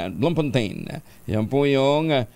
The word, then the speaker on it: Bloemfontein: Ayan, Cape Town at saka isa medyo mahirap ang bigkas ilabas nyo na nga RCV, ilabas mo na yun sa South Africa, Bloemfontein. Bloemfontein.